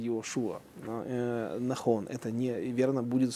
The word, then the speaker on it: Иешуа: Иешуа, вообще-то, он читается Иошуа, Нахон.